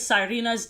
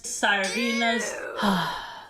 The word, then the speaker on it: Sirena: This humans versus Sirenas Sirenas That's not how you say it, gringa. Americans. Sirena. Right? Sirena.